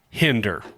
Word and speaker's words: Hinder: So a band like Hinder Rhymes with Tinder.